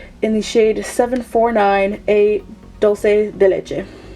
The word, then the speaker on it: Dulce de Leche: the shade 749 A Dulce de Leche. Dulce de Leche. Why did I say dulce like English? Guys. In Spanish it's Dulce de Leche, but I said dulce anyways.